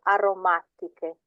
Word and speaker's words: aromatiche: C-H-E, when you have an H after a C, it's a K sound. So aromatiche.